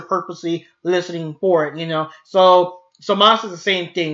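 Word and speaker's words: Zamasu: You shouldn't be saying Samasu. His name is Samas. It's kind of like the Ikimas thing. Ikimas, I think it means ready. It's there's a U there, but you don't say Ikimasu. You just say Ikimas. You don't add the U at the end.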